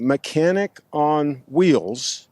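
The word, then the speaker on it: Mechanic on Wheelz: I'm here with Ronnie mechanic on wheels basically is how it's pronounced and you can see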